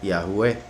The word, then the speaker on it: Yahweh: como con el acento, y por ende sería Yahweh. Entonces ahí vemos como el nombre se pronunciaría simplemente por las letras que lo conforman,